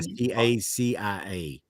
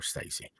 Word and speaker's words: Stacia: It's spelled Yeah. Stacia. Okay, and everybody calls her Stacy. Well, hell, I call her Stacy, but it's actually pronounced Stacia.